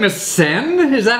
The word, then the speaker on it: Senn: Well, Eric, and the last name is Sen. Is that how you pronounce it? Sen.